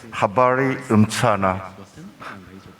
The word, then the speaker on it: habari mchana: If my pronunciation is correct, Habari Mchana.